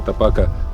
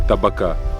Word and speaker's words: tabaka: As many of you have already guessed “Tsitsila tapaka”- is translated as Tobacco chicken. Everyone is arguing about how to pronounce it correctly: “Tapaka” or “Tabaka”. Let me tell you a secret: both variants are right.